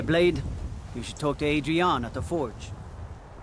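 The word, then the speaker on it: Adrianne: You should talk to Adrienne at the forge. Her name is Adrienne? I don't think I pronounce it that way. I think I say Adrian or something like that, like in Rocky.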